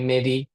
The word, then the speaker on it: Mehdi: normally here call me Mehdi. My kids normally call me Mr. Mehdi because it's hard for them to pronounce the H.